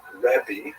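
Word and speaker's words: רבי: Um and uh in Israel the the term used in late antiquity was revi that's the actual pronunciation which means my greatness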